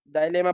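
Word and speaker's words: dilemma: इसे कुछ लोग पढ़ते हैं, लेकिन इसे डिलेमा पढ़ लो तो ज्यादा अच्छा। ठीक है। डायलेमा पढ़ लो, डिलेमा पढ़ लो, डजेंट मैटर। ठीक है, दोनों प्रोनाउंसिएशन कर सकते हैं बस।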